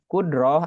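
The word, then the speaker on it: قدرة: 7 yang pertama adalah qudrot atau qudroh dibacanya ya qudroh artinya kuasa mustahil Allah ya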